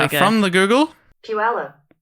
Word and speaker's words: Puyallup: Oh, I've got a pronunciation Here we go. from the Google. Puyallup. Puyallup.